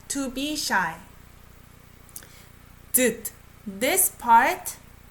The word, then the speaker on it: 듯: You know, S underneath sounds like D, right? 손짓, 실루엣, 몸짓, right? 수줍은 듯 D, 거친 날.